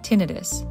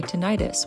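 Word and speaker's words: tinnitus: Pro tip, it helps to really focus on that accented second syllable. Most medical professionals say tinidis. The second eye is short. But the way lots of civilians say tenitis with the long eye, may actually be correct based on the original Latin.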